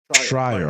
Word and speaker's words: Schreier: Schreier is Schreier, right? Schreier or Schreier? Schreier. Okay, thank you. Rhymes with Fryer.